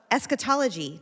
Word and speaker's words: eschatology: And we're going to talk about eschatology.